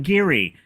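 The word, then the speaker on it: Gehry: Um, speaking of architectures, I just Frank Giri.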